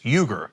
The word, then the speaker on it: Uyghur: So, by the way, another pronunciation of Uyghur is Uyghur, like my last name.